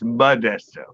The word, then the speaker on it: Modesto: Yeah, but it's pronounced Modesto.